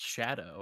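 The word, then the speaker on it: Scadu: is like it pronounced shadow shadow yeah it it's supposed to be like I think it's supposed to be like old English or something like that shadow um but I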